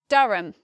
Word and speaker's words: Durham: you might expect this word to be more like dura ham because we see the letter U and R and we might think oh it's maybe similar to the word purple or some different pronunciation we don't expect the AH vowel there so we say Durham dharam next we have